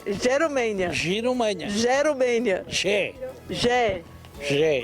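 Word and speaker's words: Jerumenha: Difícil mesmo é tentar pronunciar o nome. Giromênia. Jerumênia.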